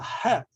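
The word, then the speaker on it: ח: All right, now het is, if you get a good Arabic influence pronunciation, going back to the origin of the sound of the letter, it's really deep in the back of your throat.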